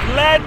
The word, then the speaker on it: Lead: to the Boar's Nest, just outside the town of Lead, or Lead, depending on how you say it, just shy of Deadwood.